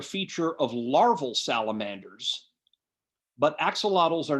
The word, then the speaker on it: axolotl: We'll look at the axolotl. Okay, in the language of the Aztecs, that should be pronounced axolot, but I'm going to say axolotl because pronouncing it axolot, axolotl, trouble to go to.